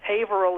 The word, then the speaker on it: Haverhill: my mom's from massachusetts i lived i went haverhill was the correct pronunciation but nice thank you back manchester's not